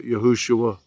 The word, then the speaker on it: Yahushua: Joshua into English, but Yahushua is the correct pronunciation, at least in Hebrew.